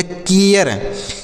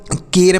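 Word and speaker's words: care: तो ये हो गया कियर इसे ना तो केर पढ़ेंगे ना तो कार पढ़ेंगे ना तो कार पढ़ेंगे इसे केयर पढ़ेंगे क्या पढ़ेंगे केयर आपको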